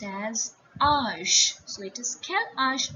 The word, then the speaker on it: âge: It will be pronounced as âge.